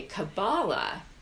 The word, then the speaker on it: Kabbalah: Okay, Kabbalah or Kabbalah, Kabbalah's in the English pronunciation with all of its different spellings.